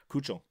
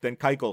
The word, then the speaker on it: Keuchel: The pitcher that should have been signed by now that hasn't is Dallas Keuchel, who you can't pronounce his name. Keuchel.